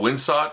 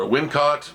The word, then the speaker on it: Wincott: There's a really incredible sort of mysticism part where the main villain, played by Michael Winsott or Wincott, depending on how you pronounce his name, who's an amazing character actor.